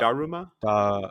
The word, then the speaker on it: Daruma: Daruma or Da, Daruma?